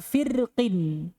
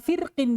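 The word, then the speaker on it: فِرْقٍ: sini ayatnya beginiini sekarang kata firqin di sini berapa cara baca rnya dua tapi dengan syarat itu boleh berlaku kalau Apa dibaca wasol Dibaca sambung dibaca tipis boleh juga dibaca tebal sama Boleh Te boleh tipis yang kedua kata alqitr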